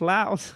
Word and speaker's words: Laos: reminds me of King of the Hill it's pronounced Laos it's a three-day slobber the meekling yeah the